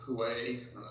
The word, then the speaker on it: Huawei: are going against them um with respect to huawei was the correct way to pronounce the company but a lot of them